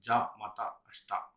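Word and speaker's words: じゃまたあした: So we will pronounce it as ja mata ashita.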